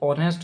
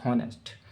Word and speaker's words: honest: ये तो जनरली मालूम है आपको, इसमें एच साइलेंट होता है और ओ से प्रोनाउंसिएशन करते हैं। इसका प्रोनाउंसिएशन जो होता है वो ऑनेस्ट होता है, ना कि हॉनेस्ट।